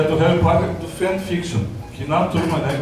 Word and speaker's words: fanfiction: vejo em alguns alunos, eu disse fanfiction, o pessoal tirou o maior sarro. Fã no sentido de divertimento, até eu me corrigi, eu contei para o Pedro, né, que é fanfiction, daí agora eu pronuncio corretamente fanfiction.